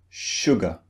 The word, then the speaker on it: sugar: sound appears in words now the word sugar contains two syllables this means two beats sugar sure go now one of these syllables is stressed the other syllable is unstressed which syllable do you think is unstressed sugar sugar it's the second syllable and in the second